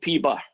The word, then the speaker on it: P bar: Now, this thing is not P hat, it's called P bar. That's how you say it out loud.